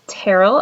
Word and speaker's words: Terell: middle name which is Terell I know it's spelled kind of funky but is pronounced like Carol with a t and you may call me Terell you may call me